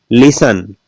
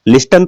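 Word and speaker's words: listen: प्राइटी silent होता है इसमें देखिएगा टीई एन बोलते क्या है लिसन लिस्टन तो नहीं बोलते क्यों नहीं बोलते क्योंकि इसमें टी साइलेंट है लिसन होगा ये ये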